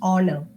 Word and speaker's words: honor: it's not horor it's honor and it's not honest it's honest so in words like our honor and honest as the letter H is silent the next alphabet is